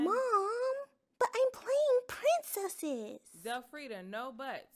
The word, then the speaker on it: Zelfredia: Teacher Charlotte, you seem to have spelled Zelfredia's name wrong. The I does not go there. Oliver, mind your own business. My mommy said the I is silent.